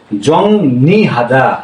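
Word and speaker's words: 정리하다: তাহলে আমাদের উচ্চারণ এখানে কি হল? জংনি হাদা হ্যা কে বলছে এই জং নি হাদা জংহাদা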